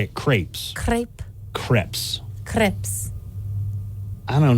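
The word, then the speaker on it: crêpe: Here's another dessert that people mispronounce a lot. Okay. See how you do on this one. Crepe. No. No? Mm-mm. Damn. The waiters are going to be laughing at me. It's crepes.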